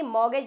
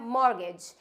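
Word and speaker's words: mortgage: लेकिन ये मॉर्गेज नहीं होता है, ये होता है मॉर्गेज। क्या होता है? इट्स मॉर्गेज नॉट मॉर्गेज।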